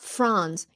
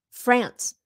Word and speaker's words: France: So it's France. France. It's that A, that short A, như là apple. Không phải là apple. So it's not France. It's France. American pronunciation.